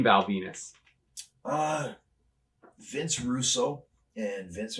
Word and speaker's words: Venis: he told me now the character's Nam is Val Venus the last name is spelled v n i s still didn't really Clue